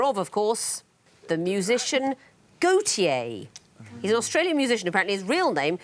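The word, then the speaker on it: Gotye: walter de becker but walter is gautier in french and he's called himself that but he doesn't spell it correctly he spells it g-o-t-y-e what's a convoluted set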